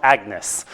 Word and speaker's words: Agnes: Commonly pronounced Agnes.